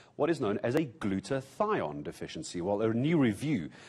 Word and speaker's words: glutathione: had to learn how to say it properly glutathione what is it and how do i know if i have a deficiency even before i have covert 19.